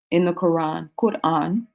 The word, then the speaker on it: Quran: In the Quran, Quran is the proper way to say it.